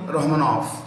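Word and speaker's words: Rahmonov: you will find immorally romanov the v in the end is pronounced with an f and the currency of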